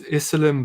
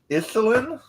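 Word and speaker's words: Yselm: name lass oh of course my name is isim bloody just rolls off the tongue don't it well isin y s e l m not spell that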